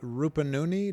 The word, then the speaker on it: Rupununi: All the way from South Rupununi. Do I pronounce that correctly?